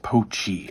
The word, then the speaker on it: Pochi: It tells you right here it's pronounced Pochi.